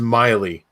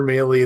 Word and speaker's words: Maile: already um yeah the the last name is pronounced miley so i know that i know you if you pronounce my name right um if you come at me with male or melee then i know we haven't met so that'll be a